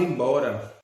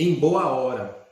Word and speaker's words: embora: que você com 19 ela era pronunciada da seguinte forma é em boa hora e o século seguinte e tá com 20 ela foi reduzida e ela é dita dessa forma é embora e hoje no século